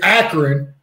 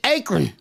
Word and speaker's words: Akron: It's Akron, and it's about an hour south. Well, where I'm from, I pronounce it Akron.